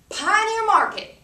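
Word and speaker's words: Pioneer Market: a Pioneer wagon that literally says Pine your Market on the side and you have to say it like that too Pine your Market okay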